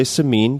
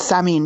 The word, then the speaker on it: Samin: A lot of people say Samin because that would be English friendly, but the correct pronunciation of your full name is what? It's Samin, yeah. You've like graduated past the appropriate American pronunciation into, you're going for true Persian right now, so it's good.